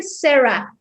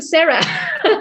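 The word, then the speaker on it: Zara: O sea, una chava que yo vea que no se dice Sara, se dice Sarah. Güey, la marca es española, no se dice Sarah, o sea, Sara, ni siquiera saben de dónde viene nada, ¿no?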